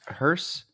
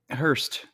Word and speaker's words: hearse: Apparently, I have family members who pronounce hearse incorrectly. Okay, hit me with it. Hearst. Now, okay. Like a hard T. Is there a T in it? Nope. Okay. Challenging. Yep. There's no reason to add the T, but they